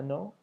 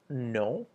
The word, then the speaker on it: non: So the response is oui, which is yes, no, which is no, and make sure you add the very faint N sound at the end. So it's not no like we have in English, it's no, no.